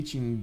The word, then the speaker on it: Tsingy: uh by the way does the Ching Choice pronounced the same as in cheese not like a k okay cheese this like